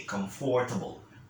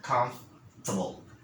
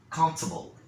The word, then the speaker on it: comfortable: these words, they say comfortable, comfortable. But the correct manner of pronouncing this one, you don't have to enunciate the four. Okay, you just say a little bit of an F sound, comfortable, comfortable.